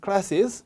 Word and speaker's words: classes: S 소리로 끝나는 단어가 S가 또 왔습니다. 그럼 어떻게 해야 된다? S를 꼭 두 번 발음해 줘야 된다. 누나, 언니 할 때 sister의 sis처럼 classes라고 해줘야 된다.